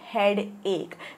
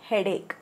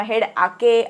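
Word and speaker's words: headache: English मध्ये आपण म्हणतो हेडेक ओके जरी स्पेलिंग असेल एच ई ए डी ए सी एच ई तरी हेड ए किंवा किंवा हेड आके असं काही वाचायचं नाहीये इट इज हेड एक ऑल राइट आय हॅव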